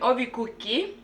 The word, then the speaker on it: ovikuki: people, we call it ovikuki. Ovikuki. Mm-hmm. Ovi. How do you spell that? Ovikuki. With the O. Oh, ovikuki. Yeah. Is it I like feel cookie, like like cookies, but ovi?